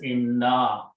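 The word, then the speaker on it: إنّا: And as I mentioned before, then when we combine, three noons are there, one is not pronounced. So what is pronounced is written as inna.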